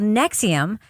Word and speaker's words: NXIVM: and high-profile escapee of an organization called Nexium that is spelled by the way nxi VM all capital letters prosecutors are making the